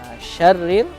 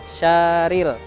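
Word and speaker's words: شر: Kemudian syarril. Nah, itu juga tadi terbacanya syaril. Nah, jadi harus diperhatikan lagi karena di situ ada tasydid. Nah, jadi harus dimasukkan huruf ra-nya.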